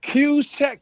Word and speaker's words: Juszczyk: Kuchek. Kyle Juszczyk, but it's spelled JUSZXWF12.